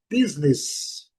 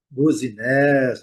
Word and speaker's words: business: A primeira sílaba é a forte. Nós estamos vendo aqui pela marcação e a pronúncia é business. Business. A, olha o som da letra. O bis buzinés, né? Buzines. Nada disso aqui. Não é português, é inglês. É business.